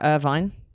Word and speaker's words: Irvine: Scotland am I going to say it right Irvine irin Irvine Irvin Irvin Irvin that's you sound